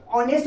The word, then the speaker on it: honest: ऑनेस्ट बोलेंगे, हॉनेस्ट नहीं बोलेंगे, याद रखिएगा। ऑनेस्ट बोलेंगे, कहोगे सर यहाँ पे तो एच है तो हॉनेस्ट होना चाहिए, नहीं, एच यहाँ साइलेंट है, ऑनेस्ट बोलेंगे, राइट ना।